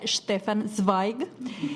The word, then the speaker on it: Stefan Zweig: acabamos acabamos de entregar que se pronuncia Stefan Spike y Pam nos trae